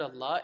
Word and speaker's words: Allah: that would be a you're supposed to pronounce that lamb softly but when the L of Allah is preceded by then you pronounce it with a full mou full mouth Allah okay and all other